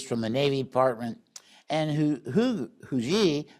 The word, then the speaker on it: Huger: I got to tell you, some people pronounce his name Hugger. other Huji, but so I'll go with the Huji.